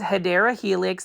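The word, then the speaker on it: Hedera helix: So, you can see over here we've got a bunch of Hedra Helix or the correct way to say it is Hideera Helix.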